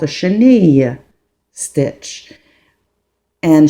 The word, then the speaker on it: chenille: as a lot of people say it the chenille stitch. However um what how you do pronounce this word it's called a cheni stitch and sheni how you say sheni in English is caterpillar.